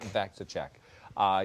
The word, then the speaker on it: VacciCheck: VacciCheck.